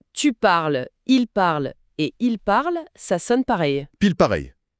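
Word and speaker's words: parlent: Donc je parle, tu parles, il parle et il parle.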